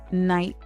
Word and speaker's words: night: Silent GH appears in words like though, light, night, and bought. In modern English, GH makes no sound at all.